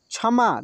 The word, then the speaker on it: क्षमा: लेकिन जब छ पहले आता है, पहले किसी भी शब्द में पहले, जैसे क्षमा, देख रहे हैं ना, क्षमा, तो इसमें क का उच्चारण नहीं हो रहा है, ठीक है।